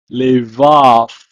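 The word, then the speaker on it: לֵבָב: It's pronounced as lev, or it can also appear in this form, levav, levav.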